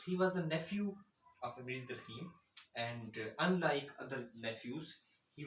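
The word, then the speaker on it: Émile Durkheim: And I checked the pronunciation on a French website. It is Emile Durkheim, not Emile Durkheim, etc.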